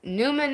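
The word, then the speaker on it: Numan: it's with an N, but it's Newman is People will be like, "Okay, well, it's spelled this way." I'm like, "No, sorry. It's N U M A N."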